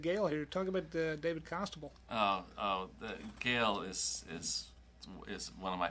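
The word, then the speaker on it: Costabile: David Constable, like Constable, except without the N.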